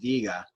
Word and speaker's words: diga: Let's go with diga. So most verbs are like this, where they have, most of them will have 2 syllables to start, meaning that this is the syllable that is stressed, di. The diga, if I'm saying,